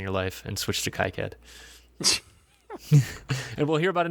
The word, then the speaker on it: KiCad: KiCad. Have you noticed that the industry is kind of split down the middle of how they pronounce it?